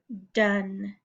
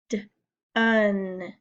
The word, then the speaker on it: done: follow the rules because this silent e should be telling this to say oh but it does not it sounds like an a short you done let's look at our